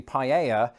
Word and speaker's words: paella: The way Americans pronounce the L's differently when they say paella is very much in line with how they do it in Spain.